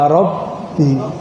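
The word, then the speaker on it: رَبِّي: Bacanya ya Robbi, bukan ya Robi.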